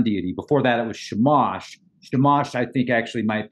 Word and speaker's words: Shamash: Well, is it Shamash or Shemesh? Because they basically mean the same thing, but they are different. Well, it's spelled S-H-A-M-A-S-H, Shamash.